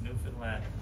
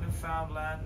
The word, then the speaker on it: Newfoundland: Now a scuff is a dance, and a Newfoundland blue star is a beer, and it's pronounced Newfoundland. Not Newfoundland, not Newfoundland.